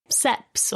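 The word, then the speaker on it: CEPS: examination and procedural skills or seps or caps depending on how you prefer pronounce it guidance for seps has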